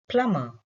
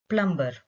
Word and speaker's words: plumber: different from the spelling the first word is plummer but most of us would call it plumber which is incorrect the next word is